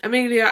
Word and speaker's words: Amelia: who don't know me my name is am Amelia yeah that's how I say my name Amelia and if I upload